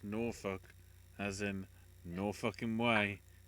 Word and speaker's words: Norfolk: dead confirm out Alan beat Sabian remember it's pronounced Norfolk as in no way just